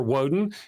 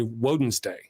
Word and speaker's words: Woden: Odin or Woden, his original name. Will wins hands down. Usually I that's how I say it like Wednesday. I Jud sometimes you'll catch me say Woden's day because right because I'm cool that way.